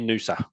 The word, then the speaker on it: Noosa: It is new, so I've got that right. I I did have a very poor pronunciation. gong for a while but I got there in the end. Yeah, definitely Nusa. Yep.